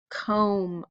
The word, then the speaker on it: comb: remember well first off what long vowel do you hear comb o so let's fill in our vowel there is is comb now you remember what two letters had um one of them was silent and the and the only thing we hear is M hopefully remember R MB pair that is how we spell comb all right boys and